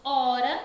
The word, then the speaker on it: hora: Ele aparece ali no começo, ele está aqui, essa é a letra, o H, mas quando nós falamos hora, nós só pronunciamos o som da vogal O.